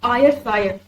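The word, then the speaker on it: Ayrshire: एक Scottish poet है और इन बर्ड ऑफ आयर सायर आयर सायर की स्पेलिंग है ए वाई आर एस एच आई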